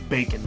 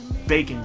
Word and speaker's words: Bakin': to the word oh a lot of people think bacon like the meat but no it's bacon b a k i n apostrophe you know you know instead of the proper pronunciation of baking so it it's it's